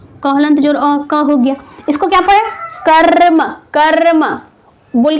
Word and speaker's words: कर्म: रहा है, ठीक है, रॉ का उच्चारण हो रहा है, तो वो क्या करेगा, उसके बाद वाले अक्षर पर रेफ का निर्माण करता है। इसलिए इसका उच्चारण क्या करते हैं, कर्म। देखिए, कर्म, कर्म।